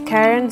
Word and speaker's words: Karun: My name is Karun, spelled with a U. Karun, as some say.